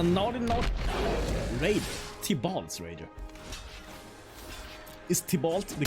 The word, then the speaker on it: Tibalt: Is Tibalt the correct pronunciation?